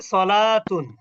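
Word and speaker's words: صلاة: এটা উচ্চারণ কি হবে? সলাতুন।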